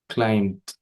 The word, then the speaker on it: climb: 22 okay she claimed climbed yes because in the word in the word to climb CL yeah so we spell it with B but we don't pronounce b yes so the transcription